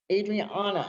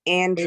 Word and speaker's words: Andrian: Adriana, is that, am I pronouncing that right? Where did you go? There you are. Am I pronouncing that right or no? It's Andrian. Adrienne? No, it's Andrian. Andrian, okay. So it starts off as A-N-D. So Andrian.